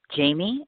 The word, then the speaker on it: Jamee: She is Jamie, and the last name is spelled Natella.